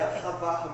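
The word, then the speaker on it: אהבה: vai dizer que é ahavá. Pronuncia melhor aí, Paulo. Você sabe tudo mesmo, de hebraico. Não sei não. É ahavar mesmo, é com a garganta.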